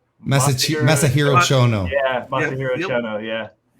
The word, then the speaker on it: Masahiro Chono: Massive Zero Ono. Masahiro Chono.